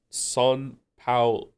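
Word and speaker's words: São Paulo: It's pronounced son pa pao low. Son pao.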